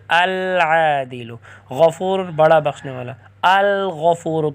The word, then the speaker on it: العادل: انصاف کرنے والا، العادل، کیونکہ عین حروف قمریہ میں سے تو لام پڑھا جائے گا لکھا بھی جائے گا، لام پر تلفظ ہوگا العادل۔ غفور بڑا بخشنے والا،